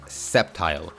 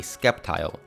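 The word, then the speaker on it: Sceptile: but but crazily enough there are people out there who have referred to this thing and may possibly still refer to this thing as a skepti the great skeptical lizard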